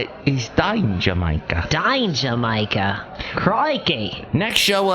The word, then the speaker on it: Dangermaker: That's the proper way to say it, is Dangermaker.